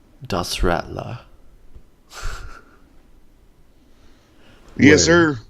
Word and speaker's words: Radler: So in German it's Das Radler. And it would be it'd be German and not English. Das Rattler.